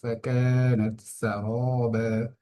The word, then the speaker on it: فكانت سرابا: ফাকানাত সারাবা, এখানে র এর মধ্যে এক আলিফ টান হচ্ছে, কারণ জবরের বাম পাশে খালি আলিফ মাদের হরফ।